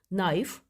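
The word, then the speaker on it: knife: letter for example no नाइफ right wrong of lamb इनमें जो underline words हैं जैसे के इसमें नाइफ में के राइट में डब्लू रॉन्ग में डब्लू ऑफर में टी एंड लब में बी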